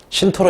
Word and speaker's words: 신토: 종교가 뭐예요 신도 내지는 발음을 무슨 토로 읽어요 신토 읽죠 자 봐봐 메이지 유신의